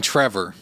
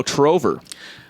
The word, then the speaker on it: Trover: trover saves the universe you mean Trevor no trover but it's spelled the